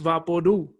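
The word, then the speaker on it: VapoRub: i'll tell you afterwards no vaporu vaporu is pronounced vapordu like loud or true the label for vaporu says it's for cough suppression but in my house vapordu is for headaches sore muscles nightmares and everything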